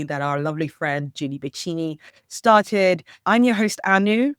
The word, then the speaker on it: Beceric: Beceric.